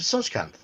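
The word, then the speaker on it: Tsojcanth: The Lost Caverns of Sushkanth. I don't know if you're right, but I'll take your word for it. That's the generally accepted pronunciation, although, yeah, I'm sure if you found Sakatha, yes.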